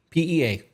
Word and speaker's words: PEA: The acronym is P. PEA, like a little green vegetable.